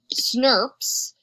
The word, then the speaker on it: snRNP: and pasted back together small nuclear ribonucleoproteins snrnps or pronounced Snopes is responsible for removing